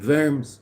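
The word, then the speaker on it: Worms: in that part the verms rashi lived in verms so it's pronounced in a German way not in a French way but um that means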